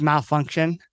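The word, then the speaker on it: Malfunkshun: pun of it yeah it's spelled like funk but it's malfunction um and that had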